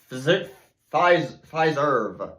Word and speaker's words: Fiserv: Fiserv, not Pfizer.